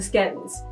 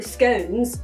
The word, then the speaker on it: scone: So the most popular pronunciations are scones rhymes with cone or scone rhymes with gone.